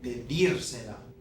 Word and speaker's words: pedírsela: And so, if you start adding on a couple things, we have to put an accent back on that original last syllable of the verb. Okay, pedírsela.